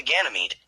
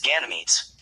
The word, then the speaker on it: Ganymede: form of Ganymede is Ganymedes. In English, the final E is silent, perhaps under the influence of French, unlike later names taken from Latin and Greek.